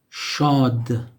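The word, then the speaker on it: شاد: Or maybe in the beginning, shad.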